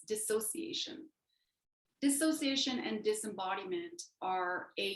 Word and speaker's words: dissociation: that's spelled so weird i always pronounce it disassociation but it's dissociation dissociation and disembodiment are